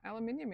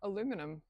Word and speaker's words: aluminium: of baking powders have aluminium in them, or aluminum, however you want to pronounce it.